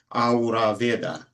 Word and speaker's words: Ayurveda: So human being at, and then Ra, because the original way to pronounce this is Ayurveda.